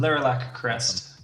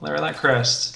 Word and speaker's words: Lerilak Crest: LERILAK CREST. How do you say that? LERILAK? I say it exactly the way you said it the first time. LERILAK CREST.